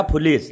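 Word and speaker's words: foolish: Police नहीं भैया, फुलिस, है ना।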